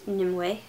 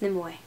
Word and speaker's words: Nimue: I pronounce it Nimue. that's actually supposed to be 3 syllables, even though it sounds like I'm saying 2, so it'd be like Nimue, but yeah.